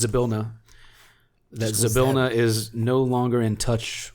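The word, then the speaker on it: Zybilna: um as a warlock I kind of sense sablina is no I keep saying it wrong it's a bill no that zabilna is no longer in touch with me not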